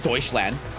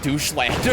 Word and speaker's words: Deutschland: I said Deutschland. I don't know how to speak German, okay? I know the general pronunciation. I know it's not like doucheland or something.